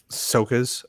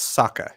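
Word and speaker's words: Sokka: that this mission was soccer's idea i'm pronouncing it wrong it's saka isn't it soccer isn't it yeah yeah saka and zuko they're i always say soca because my brain deferred to ahsoka yes that's it so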